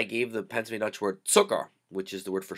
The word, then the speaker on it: Zucker: sound often, well, ever with the letter Z in English, but that's what you want to do in Pennsylvania Dutch. Tse, tse, zucker, zucker. Okay?